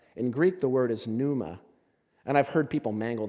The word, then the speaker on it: pneuma: greek the word is pneuma and i've heard people mangle that word so bad panuma panema panauma i've heard some really weird pronunciations the words numa the p is silent pneumatic if you've ever